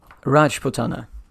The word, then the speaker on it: Rajputana: the pronunciation guide um rajputana the stress on the first syllable although i looked it